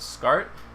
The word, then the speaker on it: Scart: um but it's uh i found out i was mispronouncing it as s cart for a while and